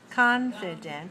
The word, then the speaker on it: confident: syllable stress code confident confident has three syllables and it's dressed on the first three one okay this is